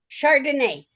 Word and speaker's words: Chardonnay: Chardonnay. Chardonnay, like the wine. Yes, ma'am. Just spelled differently, but yes, ma'am, that's the way it's pronounced.